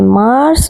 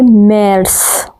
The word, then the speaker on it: März: فیبروا، فروری، مارس، مارچ۔ مارس کی آواز اے املاؤٹ کی وجہ سے تبدیل ہو جاتی ہے، نہ کہ مارس بلکہ میرس۔ آگے ہے اپریل، اپریل،